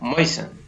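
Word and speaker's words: moisten: शब्द के बाद अंत में STLE या STEN हो तो टी साइलेंट रहता है।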